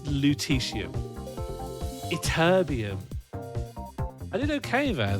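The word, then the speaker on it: lutetium: Luteesium. Okay, thank you for the pronunciation guide. So, it's actually pronounced luteium.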